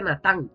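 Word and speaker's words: נתן: El verbo da de dar en hebreo se dice natán. Se escribe n a t. Natán, así como suena.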